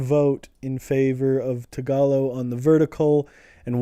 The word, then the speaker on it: Tagalog: It looks like tag-a-log, but I keep trying to spell it like tag-o-log, but it's Tagalog.